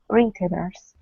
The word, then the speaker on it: retailers: Retailers. Right. So the stress is on the first syllable, retailers, like that, retailers.